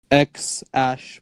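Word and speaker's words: X Æ A-12: yeah it's XAE A12 or some shit like that, and it's spelled X Ash because the AE thingy is Ash called, and A12 because the A12 part, again, it's not A12, it's something else.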